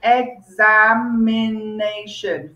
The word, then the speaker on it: examination: word examination okay so examination five syllables okay and the stress is on the fourth syllable the pronouns syllable so examination so you lean towards the asian examination i have to